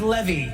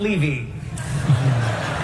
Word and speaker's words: Levy: if it goes well tonight my name is pronounced Levy not Levy and if things go south my name is